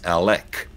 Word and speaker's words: Alec: Well, it's spelled Alex, but some of our viewers tell us it's Alec, pronounced with a C.